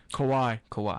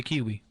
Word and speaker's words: Kawhi: Kawhi. I say Kawhi, Kawhi. At least you don't say Kiwi.